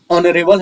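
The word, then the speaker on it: honorable: इस वर्ड का उच्चारण ऑनरेबल है। इस वर्ड के उच्चारण में पहले लेटर का उच्चारण में अ आ रहा है, यानी जो कि एक वोवेल साउंड है।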